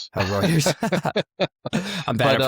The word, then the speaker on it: Reuters: Obviously, I know you started out as an account manager at Rooers America. Um, but like, you know, what were you thinking there? You know, how just so you know, it's Reuters. Reuters.